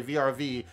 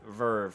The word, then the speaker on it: VRV: But when you talk to people who work for this organization, call the organization Verve, and don't be like a dumbass like Prodigy and say VRV and have her look at you like your ass is retarded.